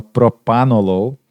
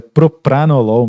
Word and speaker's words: Propranolol: ângulo de pino Propranolol que todo paciente fala Propranolol mas é Propranolol mesmo com os erres nas duas sílabas uroserv mida nifedipino clortalidona